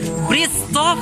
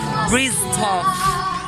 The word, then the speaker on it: Bryztoff: Ano ba ka-pronounce nito? Bryztoff pala. Bryztoff.